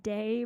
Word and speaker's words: Die: I mean, I actually considered it to be pronounced day, but you know, like just Your pretend there's a Y name there.